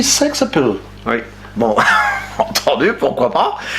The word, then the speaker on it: sex-appeal: Il faut le prononcer d'une manière anglo-saxonne. Et c'est-à-dire? Sexe à pile. Ah, on dit sexe appeal.